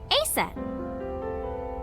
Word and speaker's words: Isis: something else obviously this is a different thing they don't you don't want to change but this thing yeah mom is named isis but in ancient egyptian it's pronounced closer to isa or asa hmm how do i